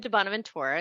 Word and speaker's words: DiBonaventura: Yeah, I pronounce it a little bit Italian, I think.